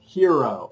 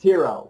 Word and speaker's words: HXRO: the top it's pronounced hero but it's pronounced hero we we've got the x in there instead of the e and the x it